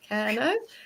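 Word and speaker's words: Kernow: Yeah, from my knowledge, it's pronouncing it right. Yeah, Kerno.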